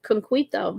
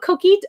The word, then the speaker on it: coquito: Is conquito. How do you say that? I need to figure this out. I'll have to have coquito. Oh, coquito.